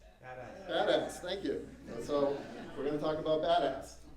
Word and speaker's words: BDAS: The Berkeley Data Analytics Stack is abbreviated BDAS, and it's pronounced? BDAS.